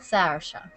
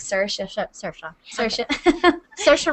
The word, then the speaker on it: Saoirse: all the time but it's Seattle yeah you can do it that way if you want or is it Sarah we don't need to say it like that just like sir sure Ronin yeah Sarah is